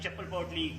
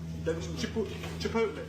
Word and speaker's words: Chipotle: Like chappal potli, gugu. Like butter. Like white slippery liquid. Sorry, brother? Daglam dola. Chipotle.